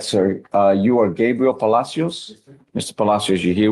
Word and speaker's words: Gabriel: It's spelled Gabriel, but it's Gabriel.